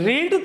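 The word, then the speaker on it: read: भी रीड कह लाएगी बस हम बोलने में चेंज कर सकते हैं रीड रेड रेड बट the spelling will be same अब आप बताइए देखिए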